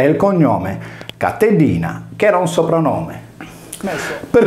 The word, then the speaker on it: Catilina: Sui nostri libri di storia il suo nome compare come Catilina, mentre invece anticamente era scritto Catellina e si pronunciava Catellina, che in sardo vuol dire cagnetta.